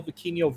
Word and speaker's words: Vikingo: I was saying Viking O.